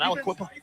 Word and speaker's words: Aliquippa: Actually, a running back, Nasir Wade from Aliquippa. Oh, man. Pennsylvania. I think that's how you say it. Everywhere, man. That's how you say it, man. Aliquippa.